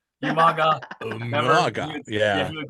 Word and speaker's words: Umaga: Remember how he used to say Umaga's name wrong? Umaga.